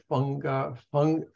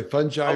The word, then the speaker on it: fungi: And that's where so much of the fungi, what's the correct pronunciation? Either way, fungi or fungi. Okay. Fungi, either way, G or G, either way.